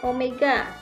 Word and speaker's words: omega: rata-rata kecepatan sudut dilambangkan seperti huruf w tapi ini membacanya Omega nah Omega ini adalah